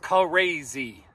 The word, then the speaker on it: CA-RAZY: And that's two syllables, CA-RAZY.